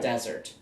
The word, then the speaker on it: desert: The difference is mostly on the emphasis of the word. Dessert. Dessert, when you eat sweets. Desert. Desert, where it's hot.